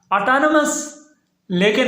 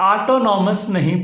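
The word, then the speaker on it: autonomous: ऑटोनमस, लेकिन इसे ऑटोनॉमस नहीं पढ़ना। तो ऑटोनॉमस पढ़ना बिल्कुल गलत है, इसकी जो सही प्रोनाउंसिएशन है वो है ऑटोनमस। ऑटोनमस।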